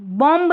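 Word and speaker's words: bomb: कॉम्ब नहीं कॉम बॉम्ब नहीं बॉम्ब यानी बी की ध्वनि हम नहीं देते हैं।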